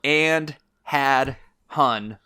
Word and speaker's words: Andhadhun: h-a-d-h-u-n uh it's spelled to the english listeners that's spelled and had hun all one word and had hun and dude